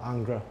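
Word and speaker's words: Ingres: influence okay i mean his name can be pronounced as either ang or angra okay it was under his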